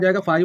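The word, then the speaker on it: phi: इसको कहते हैं फाई, है ना, फाई 1 फाई 2। ये हमारा जो है इसको हम क्या पढ़ते हैं, फाई 1 फाई, इसको पढ़ते हैं फाई, है ना, फाई।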